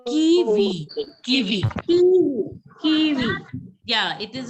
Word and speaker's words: kiwi: Kiwi. Kiwi. Yeah, it is it is the E sound, not kiwi. It is kiwi in French.